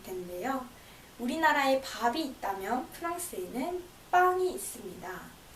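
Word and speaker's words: pain: 우리나라에 밥이 있다면 프랑스에는 빵이 있습니다.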